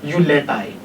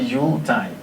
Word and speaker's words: Yuletide: it's common to hear people pronounce this as Yuletide. It is actually Yuletide and can be a season, and can also mean a festive period.